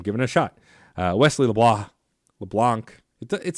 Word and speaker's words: LeBlanc: Kyle Hilliard Blake Hester Wesley LeBlanc that's that's how Wesley says it should be pronounced so I'm giving a shot uh Wesley LeBlanc LeBlanc it sounds weird